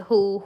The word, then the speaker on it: who: words differently there is a who here the h is active and w is silent So you can see